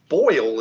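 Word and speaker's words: Boyne: was the battle of boyle is the way i'm going to pronounce it this b-o-y-n-e uh it was uh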